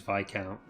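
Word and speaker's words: viscount: american pronunciation but like the correct correct pronunciation is is vi count but if i say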